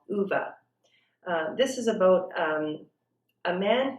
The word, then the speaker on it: Ove: uh the character's name and some people have pronounced it a man called ove but i do believe the correct pronunciation is a man called uva this is about a man who is approaching